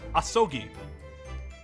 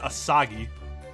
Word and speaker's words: Asogi: didn't I just say I spoke Japanese asogi not I never said aagi oh actually not you